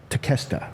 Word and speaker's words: Takeshita: Takeshita.